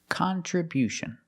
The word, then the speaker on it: contribution: And because we stress the first syllable, the sound changes. It's not con. It's not the short sound. It's con. Con. We use a short a sound like hot and stop.